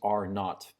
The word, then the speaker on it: R naught: heard of the expression R naught R naught is the it's the letter R with a subscript zero okay and it's pronounced are not because of British pronunciation but R naught is